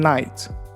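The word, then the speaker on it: knight: هي night. كيفاش كتكتب؟ K-N-I-G-H-T. There is a K at the beginning, but it's silent.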